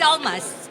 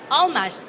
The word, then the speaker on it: Almas: My name is Almas, and I know some of you are having difficulties pronouncing my name. It's so simple. Almas, A-L-M-A-S.